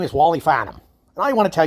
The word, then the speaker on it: Farnham: Farnham, now that's a little tougher name, and that's pronounced fa, as in not near, and numb, as in like pounding your thumb, and after the pain goes away, it's numb. Farnham.